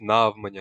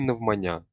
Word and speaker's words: навмання: Правильна вимова: наголосная я. Ніяких навмання або навмання, тільки навмання. Наголос не плаваючий.